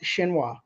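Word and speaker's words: Xinhua: China's State Wire service I believe that's pronounced shinoa now here we get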